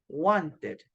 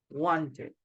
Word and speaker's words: wanted: So if a verb finishes in letter T or in letter D in present, so in past, you know that you only add letters ed, and the pronunciation is like id, okay? For example, we have want in present, so in past, the pronunciation is wanted, wanted, okay?